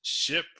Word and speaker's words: SHPE: was the was society of hispanic professional engineers pronounced ship with the uh shpe the first name or